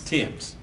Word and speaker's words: Thames: lady yes yes and the name is spelled t-h-a-m-e-s it's pronounced Thames Tims and your information is